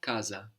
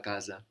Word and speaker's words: casa: in Italian is la casa so that single s that comes between vowels you can hear more like a Zed sound or an S sound depending on the dialect la casa la casa